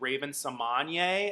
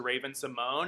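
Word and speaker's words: Raven-Symoné: and the cosby show was on and rupaul pronounced her name as raven sommanye as opposed to raven simone and i've been wondering this whole time is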